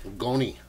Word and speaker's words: Goni: my homeboy ghoni Herrera goni spelled like Tony with a G yeah he's cool as